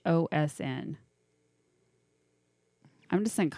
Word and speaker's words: Ghosn: It's Ghosn.